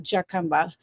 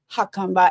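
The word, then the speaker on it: Jacumba: So J is pronounced H, not J. So it's not Jakumba, it's Hakumba.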